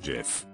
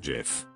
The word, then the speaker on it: GIF: Harry pronounces it GIF, not JIF.